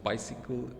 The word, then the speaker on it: bicycle: For instance, bicycle, dislocate, it's stressed. The by is a prefix, so is dis, and they both are stressed.